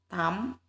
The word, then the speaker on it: thumb: So this the notice B is silent in the word limb, thumb, comb, and in the word that, subtle, and dot.